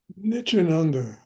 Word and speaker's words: Nityananda: Rudy's work, Nitron Nit Nit How do I pronounce? Nityananda.